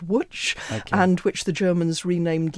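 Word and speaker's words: Łódź: Polish city which is spelt LOD said but pronounced watch and which the Germans renamed lits munched at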